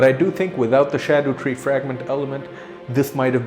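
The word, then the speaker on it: Scadutree: new level up system is introduced in the shadow tree fragments I do realize that I did pronounce it Shadow tree Apparently that is the right way to pronounce it although scad tree does sound much cooler but those are Shadow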